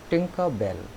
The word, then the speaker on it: Tinker Bell: Our today's chapter is Tinker Bell. We will pronounce it as Tinker Bell.